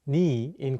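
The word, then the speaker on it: 네: meaning you sometimes pronounced n in Korean n is the shorten version of The Casual possessive noi meaning you it often gets pronounced as ni instead of NE in spoken Korean for example how do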